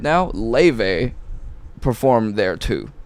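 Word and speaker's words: Laufey: in pop right now, Leve performed there too. How did you say it? Leve. Like clean Icelandic, it's pronounced löve.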